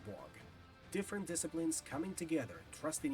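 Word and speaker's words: Waugh: James Wog, a writer in Blizzard's creative development department, by the way, to avoid further confusion, that last name is written as W-A-U-G-H, but I will still pronounce it as Wog, pitched that they'd make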